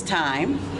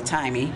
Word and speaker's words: Tyyme: It sounds like TIME. Right. A lot of people want to call me Timey.